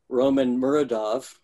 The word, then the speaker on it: Roman Muradov: graphic autobiography all right Roman muradov Roman am i pronouncing your name correctly yeah there's an author